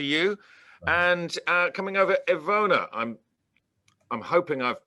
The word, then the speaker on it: Ivona: was just checking that i pronounced your name right as ivona uh yes yes that's that's uh quite good um i've heard a lot of different pronunciations the worst one was probably so you're doing very good